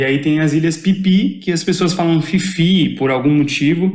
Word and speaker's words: Phi Phi: PH aí PH aí eu sempre falei Eles Fifi Mas não é isso é um erro terrível né eles pipi mesmo e o tailandês se